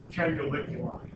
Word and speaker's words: canaliculi: that word is pronounced canaliculi, and it kind of sounds like can I lick your eye?